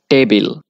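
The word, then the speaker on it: table: দিয়ে উচ্চারণ করি যেমন টেবিল ট দিয়ে উচ্চারণ করছি আবার ত দিয়ে উচ্চারণ করে থাকি যেমন তেমন কিন্তু টি এর উচ্চারণ টি এবং এইচ এর মাঝামাঝি ঠা সাউন্ড অর্থাৎ ইংরেজিতে টেবিল উচ্চারণটা হবে টেবল এখন আপনি যখন ইংরেজদের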